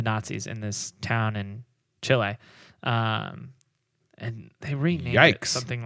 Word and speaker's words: Chile: Did you know there is in Chile, I believe it is, there is a... It's pronounced chile, but yeah.